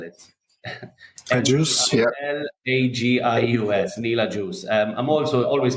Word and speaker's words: Agius: I think the best place is my Instagram page, which is Neil, and then it's Agius. I'll spell it. Agius, yeah. Agius, Neil Agius.